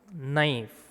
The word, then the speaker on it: knife: This one, knife. KNIFE, knife. But K silent here. We just pronounce NIFE, knife.